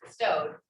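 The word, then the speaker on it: bestow'd: but for shakespeare because he didn't want to give up an actual syllable for the ed part he put the apostrophe in to show it was just bestowed so that you wouldn't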